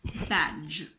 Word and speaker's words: badge: now the letter d d is silent before the letter G badge it's not bad it's just badge D G is like the J in Jam Bridge budget Edge fridge